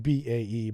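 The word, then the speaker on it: BAE: royce in derby while bay systems is responsible this is pronounced b-a-e but i'm making fun of it i call them bay uh for designed overall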